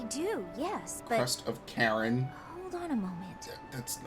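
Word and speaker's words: Charon: I do, yes, but Crest of Karen. hold on a moment. That's How did you know the that? H is silent.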